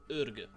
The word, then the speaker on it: Orgoo: For the first ruler, we are going to go to Mongolian part of the world, to county called Orgoo. Yes, I have searched for a proper pronunciation, because there's our young 16 years old